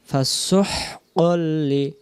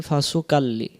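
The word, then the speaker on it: فَسُحْقًا: ছোট মিমে যাবে বিযামবিহিম ফাসুহকাল্লি আমরা বলি ফাসুকাল্লি এই দেখেন যদি ফাসুকাল্লি পড়ি কা হাঁটে গেল কই আছে তো কোরআন শরীফে আমরা পাইরি না উচ্চারণ করতে পারি না কোরআন শরীফ ঠিকই ছিল কিন্তু আমাদের পড়া ভুল তাহলে আমরা বলবো ফাসুহকাল্লি আসহাবিস সাঈর এটা দেখা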